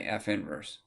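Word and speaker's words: f⁻¹: one you know what you don't say negative one at all you say f inverse the negative one means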